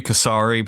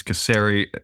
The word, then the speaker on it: Casari: I'm joining by ceri how you doing I'm doing good it's glad to see all of you today the A's in your name it could be casari but it's ceri does anyone ever mess